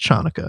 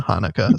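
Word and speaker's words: Chanukah: of his Hanukkah songs it's not pronounced Chuka C is silent in Hanukkah read your hooked on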